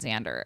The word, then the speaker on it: Xander: Yeah, that's Xander. Like a Z cuz she spelled it phonetically also.